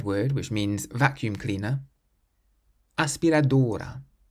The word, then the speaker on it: aspiradora: So we stress the first part of the word, not the end, because it ends in a vowel.